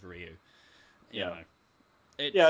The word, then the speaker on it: Ryu: the band there's like Ryu and Street Fighter yeah how many rayus get thrown around there even like Street Fighter movies where it's stubbed and they said rayu instead of Ryu you know yeah it's